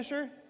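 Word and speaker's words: Leicester: Uh straight out of Klesher back to the hex photos from Lesser. How do you say? Is that Lester? Lester.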